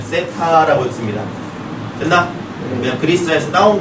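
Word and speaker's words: theta: 선생님에 따라 시터라고 읽는 사람도 있고요, 테타라고 읽는 사람도 있지만 그냥 쌤은 편안하게 세타라고 읽을 겁니다.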